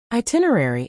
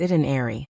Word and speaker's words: itinerary: It's often mispronounced as it and airy, but the right way has a clear tin sound in the middle.